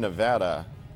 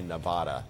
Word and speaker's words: Nevada: if you ever say Nevada you're fired Nevada you know some people say Nevada it's nevada nevada what was the joke ahead